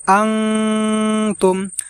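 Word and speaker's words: أَنتُمْ: প্রিয় দর্শক, এখানে আমরা ওয়ালা এই জায়গা আমরা 3 আলিফ টেনে পড়ব এবং আনতুম এখানে আমরা এইভাবে গুণনা করব, আনতুম এইভাবে।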